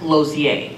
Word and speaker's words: Lausier: Well, my last name is Lausier, and it's pronounced Lozier.